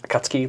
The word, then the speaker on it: Akatsuki: Like is it just akatsuki? Like it's like really fast? It is Akatsuki. Really? but it's not- They say all four syllables.